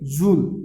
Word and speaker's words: joule: जिसे किस तरह से हम रीड करेंगे, जूल, उसे क्या बोला जाएगा, जूल, जो स्पेलिंग होगी JOULE।